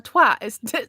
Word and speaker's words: twat: It's not twat, it's a twat. There's an A in that word. Okay, it's not spelled T-W-O-T, it's spelled T-W-A-T, and I'm like, okay, Wow.